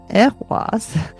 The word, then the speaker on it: Ehwaz: to be confused with Ehwaz e i h w a z, but Ehwaz kind of you you got to pronounce it kind of like ek, like echo, you know.